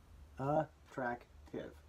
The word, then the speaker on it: attractive: up into syllables attract attractive three syllables now notice that it starts with an a but it's pronounced uh in this case on